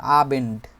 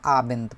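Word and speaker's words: Abend: নয়দ অথবা নয় ডও যদি বলে আবেন্ড এটাও প্রচলিত আছে তবে সাধারণত আবেন্দ বলে এই আবেন্দ এটা মানেই হচ্ছে ইভিনিং অথবা হচ্ছে সন্ধ্যা।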